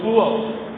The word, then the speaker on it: poor: ہے ان کے یہاں لاسٹ میں جو آر آتا وہ سائلنٹ ہوتا۔ الگ الگ جب پڑھیں گے تب تو وہ آر آئے گا، لیکن جب پور کو تلفظ میں لائیں گے تو پور، آر کا تلفظ نہیں ہوگا۔ اب اگر اس کا